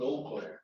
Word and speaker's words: Eau Claire: Thank you, Commissioner, 100% appreciate it for our small advancement in Eau Claire. Thank you. That's how you say it. Okay. Just like the one in Wisconsin.